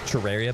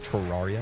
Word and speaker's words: Terraria: want it look Terraria it's Terraria by the way not Terraria awesome before I